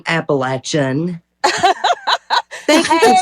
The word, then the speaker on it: Appalachian: that person but yeah thank you for saying appalachin thank you for saying it correctly that's right